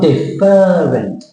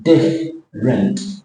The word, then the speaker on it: different: now can you see I've crossed out the E it's not deferent it's different you're not deferent it's less syllables what about this one